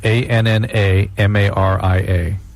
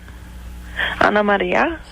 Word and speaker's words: Ana Maria: ANNAMARIA. Ana Maria. Right. Right. Ana Maria. Right. What's wrong with that? That's what I'm asking. She says Ana Maria, not Anna Maria.